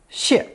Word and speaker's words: 谢: Pronounced third tone, 解, 解, and as a phonetic fourth tone, 谢, 谢.